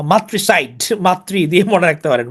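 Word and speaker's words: matricide: murder of a mother এটা হচ্ছে ম্যাট্রিসাইড বা মাতৃসাইড মাতৃ দিয়ে মনে রাখতে পারেন মাতৃসাইড যদিও ম্যাট্রিসাইড উচ্চারণটা মাতৃ মানে দুঃখজনক যদিও আপনাদের মজা করে বলছি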